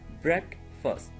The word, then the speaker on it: breakfast: break fast getting s below yet dignity air pronunciation Breck first okay breakfast alright yeah amar was here already